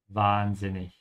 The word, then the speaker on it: wahnsinnig: Open your mouth on the R and stretch it a bit, because there's an H after it. Wahnsinnig.